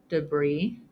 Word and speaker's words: debris: And the last exception is that sometimes S is silent after the letter I. For example, the following words: debris, aisle, aisle again with a different spelling and meaning, island, Illinois.